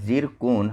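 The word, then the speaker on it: Tsirkon: देश के द्वारा जिरकोन, ठीक है स्पेलिंग अलग है और बोला उच्चारण अलग है। ठीक है, तो जिरकोन या फिर ट्रिसकोन, इसको ऐसे याद कर लीजिए, तो इसको बोला जाता है जिरकोन hypersonic cruise missile launch की गई है।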